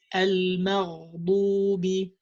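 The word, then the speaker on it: المغضوب: You have to give the ghain more time because ghain is from the rakhu letters. So you say al-maghdubi, al-maghdubi.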